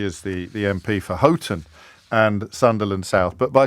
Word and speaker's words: Houghton: say I'm being bombarded by geordies because I mispronounced Bridget phillipson's constituency I I called it Halton uh instead of ever as as every fool knows she is the the MP for Houghton and Sunderland South but by saying I've been